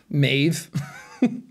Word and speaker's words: Maeve: It's also confusing because a B-H and an M-H both kind of make like a V sound in Irish.